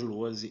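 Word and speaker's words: Lohse: Meu canal do YouTube é Luozi. Luozi se escreve L-O-H-S-E, se escreve com Z.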